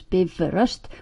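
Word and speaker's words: Bifröst: layer Biv rust pronounce Biv rust by all means not by Frost please and keep the accent on the first syllable as always in Icelandic I said name her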